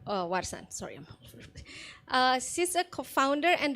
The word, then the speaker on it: Warsan: Next to Margie is Miss Warsan Witsan. Do I pronounce the?